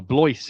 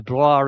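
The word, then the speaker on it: Blois: Oh, Bloyce is the pronunciation they've given him here. Um I I It's Anglicized I believe. Yeah, very much so. Bloor is very much the French pronunciation for Layston Bloor.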